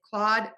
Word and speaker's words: Claude: Number two, most popular, and I'm gonna talk more about this in a second, is Claude, Claude, Claude, and Claude. These are homophones. Again, four spellings, same pronunciation, and four very different meanings.